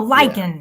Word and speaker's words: Lycan: like a wolf. Oh, Lycan.